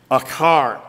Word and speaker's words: achar: Even that little temporal marker after them, achar. It is spelled A-C-H-A-R.